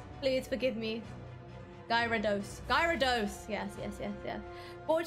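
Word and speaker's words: Gyarados: know just like saying a k-pop um idol's name wrong i'm sorry pokemon people out there please please forgive me guy rados gyrados yes yes yes yes brought to you by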